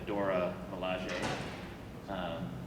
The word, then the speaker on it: Dora Milaje: You have to protect some of the mining facilities first with the Dora Milaje. Then, did I pronounce that right?